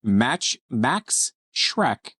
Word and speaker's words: Max Schreck: On this day, in 1879, the aptly named German actor Max Schreck, pronounced like Shrek, was born in Berlin.